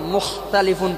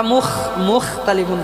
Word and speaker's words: مختلفون: গেছে যে ওইটা বাইরে দেশে ওইটা বেশি প্রচলন মুখ তালিফুন পড়ে আমরা মুখ ততালিফুন পড়ি ঠিক না মুখতালিফুন হবে নরম দিনা